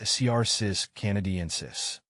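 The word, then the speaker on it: Cercis canadensis: you pronounce cus canadensis I pronounce cus canadensis as CIS Canadian sis the name might sound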